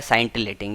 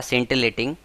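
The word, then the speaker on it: scintillating: इसको जो है अगर हम वन वर्ड की बात करें इसकी, तो इसका वन वर्ड होता है साइंटिलेटिंग या सेंटिलेटिंग। शुद्ध प्रोनाउंसिएशन होता है वो होता है सेंटिलेटिंग।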